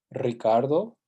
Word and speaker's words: Ricardo: Some things to keep in mind that sometimes when we spell it as a single R, it's actually pronounced as the trill R. That is true always at the beginning of a word. Ricardo, Costa Rica. It's also after the letter N, Enrique, and after the letter L, alrededor.